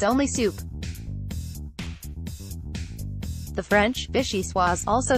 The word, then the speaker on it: vichyssoise: this summertime soup and you don't even say it the fanciest way vishi suave the pronunciation that's most divorced from actual letters usually the way to go when it comes to French is in this case incorrect it's vichyssoise and even more hilarious